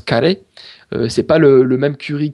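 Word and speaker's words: カレー: base de curry donc au japon ça se prononce carré c'est pas le même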